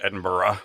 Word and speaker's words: Edinburgh: of Edinburgh which is it's pronounced Edinburgh like that not with a hard G slightly rough yeah uh we took